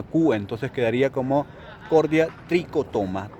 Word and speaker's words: trichotoma: chef como está en latín la che se pronuncia como una cuba entonces quedaría como cordia tricotoma tricotoma Bueno si ustedes se pregunta si tiene nombre